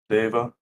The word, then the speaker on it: deva: So, Yeah, an astral deva, yep. perhaps. Fuck. So being that Zildred again is a holy man, he knows precisely what an astral deva is.